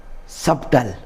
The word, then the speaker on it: subtle: Subtle. This is not subtle. We should silent B also here and we should call this subtle.